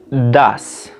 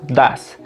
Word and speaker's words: does: En este caso, do se va a pronunciar das, como decir el número 2, das.